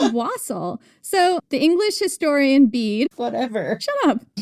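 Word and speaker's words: wassail: have done that or I could make some wasel continues to mispronounce wasel. It's was wasel.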